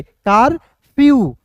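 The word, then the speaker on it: curfew: है यहां पे देखिए सी यू आर एफ ई डब्ल्यू तो क्या पढ़ेंगे दोस्तों कारफ्यू ठीक है कारफ्यू यहां पे देखिए कार नहीं पढ़ेंगे कारफ्यू देखिए के सी का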